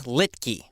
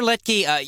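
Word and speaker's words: Littky: And The Big Picture is by a man named Dennis Littke. Now, Littke is spelled L-I-T-T-K-Y.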